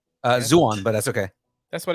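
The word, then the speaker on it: Zaun: The oppressed underground of Zon. Zuon, but that's okay.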